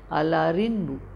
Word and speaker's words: Allarimpu: KCT, the P after nasal becomes GJDD, the B and the Telugu Allarimpu will usually be pronounced as Allarinbu.